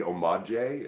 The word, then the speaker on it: homage: i assume that o-m-o-d-j-e omadje has got to be like you're trying to say homage since it's french and the h is silent it is tricky right